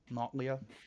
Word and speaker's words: Nautlia: Those of you from the village recognize this as Nautlia. She lives here. Not spelled like nautical, but Leah like Natalia, Nautlia, if that helps.